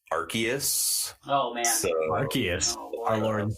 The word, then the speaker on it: Arceus: Pokemon Legends R uh I believe it's pronounced archus oh man archus our